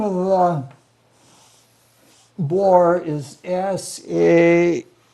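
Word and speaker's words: Sæhrímnir: But the name of the boar is Sehrimnir. Sarimnir is the closest I can come to the pronunciation. I've heard it pronounced Scrimnir, but that is probably some kind of making it easy or something like that.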